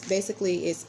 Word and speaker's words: Pentateuch: Genesis is the first book in what is called the I always pronounce this wrong. Hold on, guys. The Pentateuch. It's Pentateuch, a word that means 5 books.